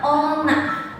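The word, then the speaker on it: おんな: Kalau kunyomi itu dibacanya ona, seperti semisal ya ona no hito bisa.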